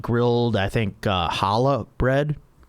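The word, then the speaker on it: challah: grilled I think uh hala bread. I know there's a C in front of that word but you don't pronounce the C.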